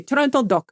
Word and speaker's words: Trento DOC: sparkling wine of which you should partake is trento do that's how they say it they say trto do it's trto doc split out into its own